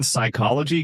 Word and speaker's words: psychology: The P in psychology comes from the Greek root psyche, meaning mind or soul. Over time, a pronunciation evolved, but the spelling got stuck.